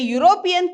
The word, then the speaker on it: European: Though it is Europe, here E is pronounced as Y. European. It is pronounced like YU. So, it shouldn't be an, it should be a. A European came to visit India.